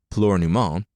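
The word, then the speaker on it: Plúr na mBan: Oscar had been born nearly a year after he arrived, and Flower of Women, apparently pronounced Pleurnument, arrived soon after.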